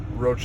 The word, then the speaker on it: Roche: Is it Roche? Roche is fine.